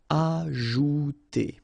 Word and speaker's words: ajouter: So remember, j is really pronounced like j. Ajouter. Agir.